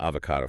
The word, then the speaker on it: avocado: It's a three-cllable word. It's everywhere now, and it gets mistressed all the time. The energy has to be on that second syllable. AO, right? If you rush it or stress the first syllable, it just sounds a bit clumsy.